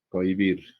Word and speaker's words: cohibir: Cohibir. Lo mismo pasa acá, ¿no? La H no la tomo en cuenta.